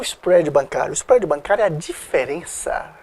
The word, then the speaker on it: spread: é os prédios bancário a pronúncia é o spred os prédios mas pode falar isso prédio tem problema não é importante que